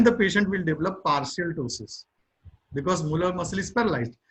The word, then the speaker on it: ptosis: The paralysis of levator palpebrae superioris, ptosis. P is silent here.